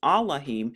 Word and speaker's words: Elohim: praise unto our Elohim another way to pronounce Elohim is allahim many shall see it